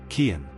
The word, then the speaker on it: Cian: Number 10, Cian. Pronounced k e e n.